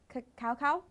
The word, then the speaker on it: cacao: One of my favorites is the hazelnut cacao, that's how it's pronounced.